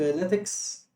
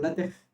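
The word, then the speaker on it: LaTeX: هي بتتكتب لاتكس، ناتق لاتك او لاتخ، انطقها زي ما تحب عادي. انا واخد ان انطقها لاتك فهقول لاتك، بس انت انطقها زي ما تحب، مش ده المهم دلوقتي.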